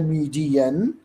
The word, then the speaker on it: median: पहला पैरामीटर है आपका मीन, दूसरा पैरामीटर है मीडियन, इट्स नॉट मे, इट्स मीडियन, एंड तीसरा पैरामीटर है मोड, राइट।